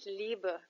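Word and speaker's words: Liebe: اي زي كلمه ايس بعد كده عندنا شفره الحب ايوه بالظبط كده اي اللي هي اي زي في كلمه ليبا وليبا يعني الحب حتى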